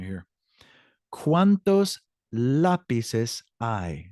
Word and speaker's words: lápices: ¿Cuántos lápices hay? Now, lápices is spelled Lapices with an accent over the A.